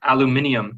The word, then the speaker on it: aluminium: that's why sorry sorry for our british listeners aluminium can nice is that really how they say